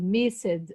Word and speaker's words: missed: God missed. How could I miss from... God missed. Misses. Oh my gosh. T. Missed. S-E-D, you pronounce S-T.